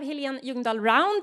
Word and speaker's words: Helene Ljungdahl Round: Then we have Helene Ljungdahl Round, CEO of the medtech company Acarix.